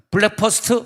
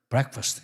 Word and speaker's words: breakfast: breakfast 그래야지 되는데 우리 한국 사람들은 발음이 안 되니까 블랙퍼스트 막 그러더라고요. 그 백인들이 자꾸 우리를 무시하는 블랙퍼스트? 그러니까 뭐가 브렉퍼스트 시작.